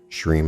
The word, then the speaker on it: shreem: prosperity and abundance the shreem is the seed sound for the principle of abundance shreem is actually pronounced shreem where you drag out the middle part to run for the duration of the breath the use of the